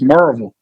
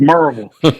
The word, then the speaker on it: Maryville: Everybody thinks it's Mville College because that's how it's spelled. But one of the first things they do for us outsiders, they teach us how to say it. And it's Merville. You know, it's not Maryville, but it's Marvel.